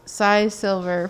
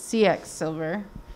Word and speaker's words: C.X. Silver: i pronounced it wrong i always think that it's size silver for some reason but it's cx silver gallery is that right yeah yeah cx over